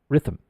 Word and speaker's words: rhythm: the so you'll say rhythm your your tongue uh what you're doing with your tongue is correct however it's not riff rhythm the th is pronounced it's vocalized it becomes Rhythm the